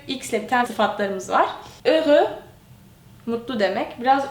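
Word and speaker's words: heureux: biten sıfatlar mız Var öü Mutlu demek Biraz okunuşu Zor gelebilir baştaki h'yi okumuyoruz falan ama öü diye okuyoruz mutlu anlamına geliyor Bunu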